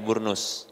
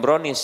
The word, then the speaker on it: burnus: celana panjang kemudian tadi burnus ya ini bacanya bukan brownies ya dibunuh bukan brownies pakaian ini cocok ya